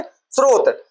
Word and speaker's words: स्रोत: हम लोग इस स्त्रोत का वर्णन उच्चारण कैसे करते हैं? श्रोत बोलते हैं उसको। क्या बोलते है? स्त्रोत।